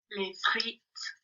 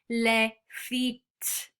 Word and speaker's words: les frites: Les frites. So les frites. Les frites. Les frites. So can you see we don't pronounce the S on the end?